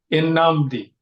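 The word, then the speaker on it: Nnamdi: And I think said in Namdi and I was like that's actually correct. It is because in it's ebo so it's a Nigerian name.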